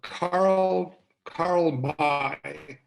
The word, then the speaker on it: Karl May: There was a German author by the name of, what was his, you know, Karl May. It's how it's pronounced in German, M-A-Y, or Karl May.